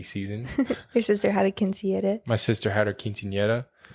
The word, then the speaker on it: quinceañera: Your sister had a quinceañera. My sister had her quinceañera, yeah. If you can't roll your R's, you can't say it.